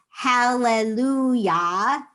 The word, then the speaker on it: hallelujah: the h is silent and when we say hallelujah a lot of times when you see hallelujah written out it's transliterated with an h at the aim at the end and that's because in